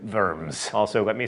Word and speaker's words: Worms: the Imperial Diet of Worms, or in German, Worms.